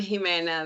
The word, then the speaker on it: Jimena: So I'm Jimena. My name is Spanish name, so it's a H sound as opposed to J.